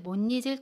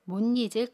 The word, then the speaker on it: 못 잊을: 모 들 거예요 당신을 못잊을 거예요 어떻게 발음 하 죠 먼저 당신을 못잊을 거예요 당신을 못잊을 거예요 또는